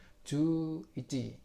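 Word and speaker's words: 十一: Jadinya bacanya ju ichi.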